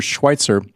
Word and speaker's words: Schweizer: His website, Peter Schweitzer, without a T, Peter, SCHWEIZER, although you pronounce it as if there was a T, .com.